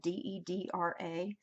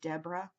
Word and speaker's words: Deidre: name wrong as someone whose name Deidre de DRA with no eye in there and everyone calls me Debra I really hate mispronouncing